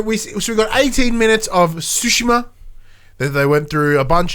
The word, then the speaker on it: Tsushima: As I said at the start of the show, Tsushima. Not Tsushima, Tsushima. So we've been saying it wrong this whole time.